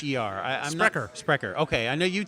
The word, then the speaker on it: Sprecher: are SPR c h ER i i'm wrecker Sprecher okay I know you'd said it before spreaders